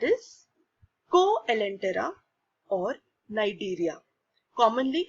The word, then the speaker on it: Cnidaria: go Ellen Tara or Nigeria commonly it is not sign it area it is Nigeria see is silent now we have heard